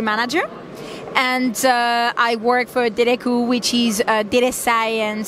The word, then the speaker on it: Dataiku: How do you pronounce that? Yeah, I know it's a complicated name. Dataiku. Dataiku.